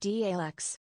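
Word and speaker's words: Daleks: you can lean back and onto wheels It's pronounced dux.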